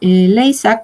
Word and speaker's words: Lezak: Y de neuropsicología, igual de Leysak, se escribe Lezak, de esa autora, todo lo que puedan leer de evaluación neuropsicológica, Neuropsychology Assessment.